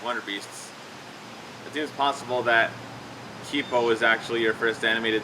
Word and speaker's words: Kipo: I have been pronouncing Kipo all wrong. It's actually Kipo in the Age of Wonderbeasts, which is also pronounced I like an E.